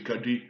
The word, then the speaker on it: Kadi: Donc Kadi signifie, prononcer Kadi exactement avec un D derrière, donc signifie une femme, hein.